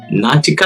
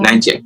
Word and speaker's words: Niantic: And you've got Natica, I'm pronouncing the name wrong, but the Pokemon guys, really big. Oh, Niantic? Well. Niantic, yes.